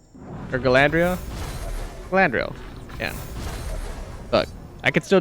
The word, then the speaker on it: Galadriel: know it's one of those the blade of galandriel or galandria Galadriel yeah look I could still do that one